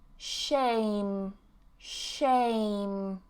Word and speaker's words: shame: And this one, shame, shame. Okay, no E at the end.